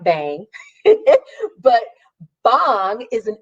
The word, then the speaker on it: bhang: BC but it's um I actually found out it's pronounced bong but I'm southern and I live in the south and I like bang it but bong is